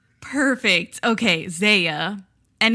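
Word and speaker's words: ZE:A: turned actor because he's from the idol group Zia. And I don't think I'm pronouncing that right. Yeah. So, we actually got into this cuz MC1 is from Za as well.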